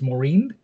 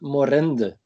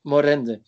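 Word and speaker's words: Morinde: listened to which is i guess it's it's maureen uh is that how you say it i'm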